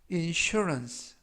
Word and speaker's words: insurance: 뜻이 되겠습니다 이번 표현은 insurance insurance insurance라고 발음하시면 되겠고요 이때 강세는 알파벳 유의 강세가 있습니다 그래서 insurance라고 발음하시면 좋겠고요 품사는 명사 뜻은 보험이라는